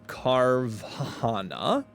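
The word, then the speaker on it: Carvanha: So, I need a carvahana. That's how you pronounce it. If anybody's been pronouncing it another way, I'm here to help you out.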